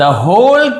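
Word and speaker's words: whole: पूरा गांव, तो होल यानी होता है पूरा, डब्लू को नहीं पढ़ा जाता लेकिन लिखते जरूर है।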